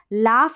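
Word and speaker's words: laugh: क्या है साइलेंट है अब यहां पर देखिए लाफ ऐसे स्पेलिंग है जिसमें ए यजीएच को लाफ आफ करके पढ़ रहे हैं लाफ क्या है आफ तो इस तरीके से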